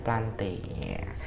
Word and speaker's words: plantae: ya biar nulisnya bener pantai Yati yang benar bacanya plantae tapi jangan terus blmt